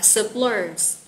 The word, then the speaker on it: support: bạn lưu ý nha mình sẽ nhấn trọng âm số 2 mình sẽ đọc là supporter đánh trọng âm lên